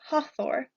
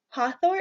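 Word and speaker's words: Hathor: embalming next we have ha Thor an easy way for me to remember this one is to think about the Avengers so you have ha Thor hath or hot war is the goddess of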